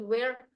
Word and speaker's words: wear: You should wear here di sini pengucapan wear ini, wear memakai itu sama dengan where do you go? It sounds the same.